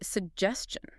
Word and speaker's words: suggestion: introduction Let's do suggestion. S U G G E S T I O N Similar to actually, there is a hidden ch sound here.